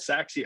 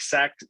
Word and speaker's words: Sachse: So I found this school called Saxe High School, which at the time I didn't even know how to pronounce the name. It's SACHSE. I'm like Sache, like Sachet.